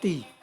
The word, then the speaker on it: 坔: 尖头港应该是地头港，水加土，水加土，上面水下面土，念作地，台语也在南。